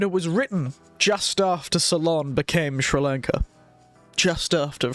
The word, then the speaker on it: Ceylon: what ceylon is i keep pretty i always pronounce it terribly salon yes it is salon good old salon now i have a book speaking of being